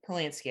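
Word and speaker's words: Polanski: about a two hour runtime uh Roman palansky palansky I think I said it right yep uh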